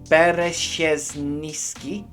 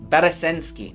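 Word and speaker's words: Bereszyński: Bartosz Bereziński. That, I've butchered that. Bereziński, that's it.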